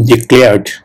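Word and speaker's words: declare: ওকে ডিক্লেয়ার এই ডিক্লেয়ারটা যারা বাঙালি তারা কিন্তু এটাকে উচ্চারণ করে ডিক্লেয়ার ডিক্লেয়ার কিন্তু একচুয়াল প্রোনাউন্সিয়েশন টা হবে প্রোনাউন্সিয়েশন মানে উচ্চারণ ওকে প্রোনাউন্সিয়েশন উচ্চারণ একচুয়াল প্রোনাউন্সিয়েশন হবে ডেক্লেয়ার ডিক্লেয়ার ডেক্লেয়ার okay so have you ever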